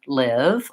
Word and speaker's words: live: this eval green tea but you might not have the vowel that's in live or pink pig and so your brain hears live and leave as the vowel that you have in your native language so that's just one